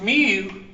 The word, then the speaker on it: mu: If you see a Greek letter right here, which is mu, pronounced M-E-W, that's a Greek letter.